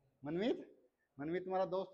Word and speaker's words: मनमीत: तो तुम बताओ भाई क्या नाम की स्पेलिंग है, SH, क्षितिज, तुम बता दो इसको क्या है, हाँ, मनमीत। मनमीत तुम्हारा दोस्त है, तो मनमीत की तो स्पेलिंग आराम से बता दोगे, मनमीत या मनमीत, स्पेलिंग बोलो MANMEET, ठीक है।